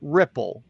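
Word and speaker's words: RIPL: what IBM calls ripple RPL or I I like to add the I R IPL I pronounce it ripple remote initial program load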